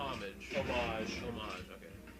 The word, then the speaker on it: homage: is it an omadra a homage the h is silent and here's the fun